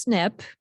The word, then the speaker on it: SNP: now this this um these initials here look like SNP but it's pronounced snip and it stands for